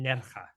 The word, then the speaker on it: Nerja: I'm going to butcher the pronunciation, so please enjoy correcting me. Nerja? I spend a lot of time in Nerja, exactly.